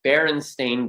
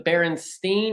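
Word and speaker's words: Berenstain: bears in history, I would say, are the Baron Stain Bears. Why do you say it like that? Because most people think it's the Baronstein or the Baronstein because a lot of people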